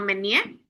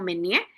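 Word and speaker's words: Meunier: Eh realmente en Francia no se conoce como Pino Menenié, ¿verdad? sino que allá en Francia la llaman como mené y es una uva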